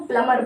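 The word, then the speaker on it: plumber: रहा है, जैसे प्लम्बर, प्लम्बर को प्लमर बोलते हैं, प्लमर बोलते हैं, बीच में क्या है साइलेंट, लेकिन क्या बोलते हैं, प्लमर बोला जाता है।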